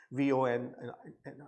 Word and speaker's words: von: for von Neumann architecture, VON, right? So von is VON, that's what you should remember, the pronunciation for that scientist.